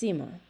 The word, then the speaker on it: nsima: In Malawi, we eat maize with every meal, and most families serve this in the form of a dough-like porridge called nsima, pronounced sima. Sima is made by adding